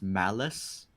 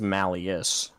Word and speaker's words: Malleus: to annoy me slightly why do people keep pronouncing malleus as malice i haven't which does it ace does it occasionally the two words are interconnected but it is malleus not malice but it is a